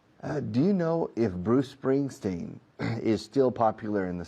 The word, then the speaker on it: Bruce Springsteen: No digo Bruce Spring, Bruce Spring, Bruce Spring. Digo Bruce Spring, Bruce Spring. La C de Bruce se enlaza con la S de Spring. Bruce Springsteen. Is Bruce Springsteen still popular in the United States?